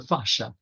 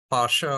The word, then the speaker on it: fascia: you make Ben's uh it can be pronounced Pasha or fascia uh and you'll hear it many different ways uh I I was introduced to it as Pasha so that's what I tend to use in my pronunciation uh I want to